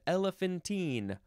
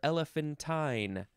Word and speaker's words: elephantine: going to go the next word is elephantine or elephanttine or you can emphasize the first syllable more elephantine I guess that's how you would say it adjective from 1610 1